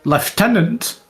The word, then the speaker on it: lieutenant: Hell unleash the chaos on the lieutenant. Left tenant. Yeah, left tenant. If you're lieutenant across the pond from your neck of the woods. Left tenant. Left tenant. Um, that's how they say it.